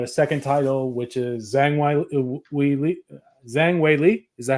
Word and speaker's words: Zhang Weili: Then we got a second title, which is Zhang Wei Li.